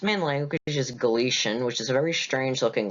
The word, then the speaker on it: Galicia: Next up on the list we have, and after looking it up on the web, I have now been informed that it is pronounced Galicia, I think.